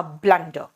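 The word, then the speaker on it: blunder: वाज अ ब्लंडर ब्लंडर बोलते हैं यू लिखते हैं लेकिन यू का प्रोनंसिएशन जो है वो यू नहीं होगा यहां पे अ होगा इट वास अ ब्लंडर देखो जरा ध्यान से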